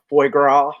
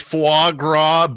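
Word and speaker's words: foie gras: Uh, I'm going to go eat some uh fo now. And uh, is that how you say it, J? It's f It's fuagra. But yeah, I say it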